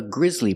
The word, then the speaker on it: grizzly: bear is called a grizzly bear it's spelled differently but it's pronounced exactly the same as the word grizzly meaning something causing horror